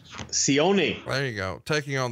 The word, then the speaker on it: Sione: Plus, we've got the bad guys, which is the 1, 2, 3 Kid, British Bulldog, Fatu, Razor Ramon, and Sion. I pronounced that all wrong. Sione.